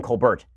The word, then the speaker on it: Colbert: My understanding is that Stephen Colbert actually changed the pronunciation of his name in college. This is the rumor that was going on, is that Stephen Colbert is actually pronounced Stephen Colbert. And he actually changed it to Colbert because it sounds more sophisticated.